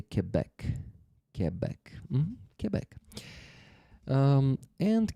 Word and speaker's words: Quebec: Uh, many Americans say Quebec. Canadians I've met say Quebec.